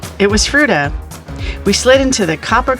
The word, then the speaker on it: Fruita: It was Fruita.